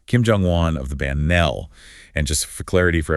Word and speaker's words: Nell: Kim Jong-wan of the band Nell. And just for clarity for everyone listening that's Nell, pronounced like the word bell, but with an N. Nell.